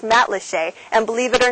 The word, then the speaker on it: Matlacha: of Lee County is spelled mat laa but pronounced mat lhe and believe it or not it's my very first time here so we're going to check it out together mat leet is the most colorful of the five communities